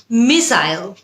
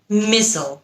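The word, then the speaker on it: missile: এরপরে আরেকটা শব্দ নিয়ে কথা বলি, মিসাইল নাকি মিসল। মিসাইল হচ্ছে ব্রিটিশ উচ্চারণ, মিসল হচ্ছে আমেরিকান উচ্চারণ।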